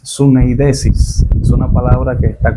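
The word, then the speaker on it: συνείδησις: Y en cuanto a su definición, en el idioma griego, la pronunciación de la palabra conciencia es suneidesis.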